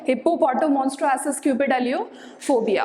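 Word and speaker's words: hippopotomonstrosesquippedaliophobia: इस तरीके से हिप्पोपोटोमोन्स्ट्रोएसिस क्यूपिड अलियोफोबिया। अब इसका प्रोनाउंसिएशन आसान हो गया, हिप्पोपोटोमोन्स्ट्रोएसिस क्यूपिड अलियोफोबिया।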